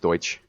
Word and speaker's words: Deutsch: touch Deutsch Deutsch towards that is pronounced it's pronounced Deutsch but it would be